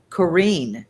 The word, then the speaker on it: Corinne: So Corinne. Corinne, yes. Corinne, Like okay. Corina, Corina, the song.